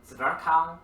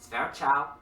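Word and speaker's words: Zwerchhau: We can call this Zverkau, Zverchau, Zverhau. There are slightly different spellings and pronunciations. Of course, being, Canadian, our club, we say it's Zverchau because it just sounds fun. Zverch. Although it probably should be Zverkau if we were trying to be really German about it.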